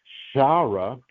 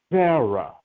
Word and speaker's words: Sarah: When we pronounce Sarah's name, we know that it just has the S sound. It has she's not pronounced Shara with the sh. She has the the dot over the left side, which is just a Sarah.